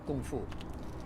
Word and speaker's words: kung fu: I'll say it in my lingo, kung fu. So kung fu is the Cantonese pronunciation of the word kung fu, and Bruce Lee is an amazing icon for Chinese martial arts.